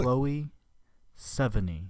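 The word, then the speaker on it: Chloë Sevigny: okay now he'll say it for real chloe 70. 70.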